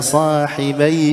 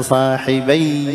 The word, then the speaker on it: صاحبي: هنا نفس الشيء يا صاحبي السجن، الياء في صاحبي ايش مشددة، بعضهم خطأ يشددها، يقول يا صاحبي السجن، خطأ، هنا الياء مكسورة وليست ياء مشددة.